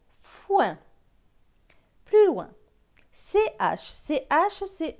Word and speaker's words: foin: F avec O-I-N. O-I-N, c'est ouin, donc F et ouin, foin.